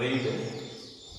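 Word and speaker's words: read: இது இப்போ ரீடு past டென்ஸ்ல ரீட்ஸ் ஆகுது, பண்ணிக்கணும். ப்ளூரல் சிங்குலர்ல ரீட்ஸ் ஆகுது. பாஸ்ட் டென்ஸ்ல இது ஸ்பெல்லிங்ல எந்த வித்தியாசமும் கிடையாது. ஆனால் உச்சரிப்பு வந்து இது ரெட், ரெட் அப்படின்னு சொல்லணும். அப்போ இது பாஸ்ட் டென்ஸா ப்ரெசன்ட்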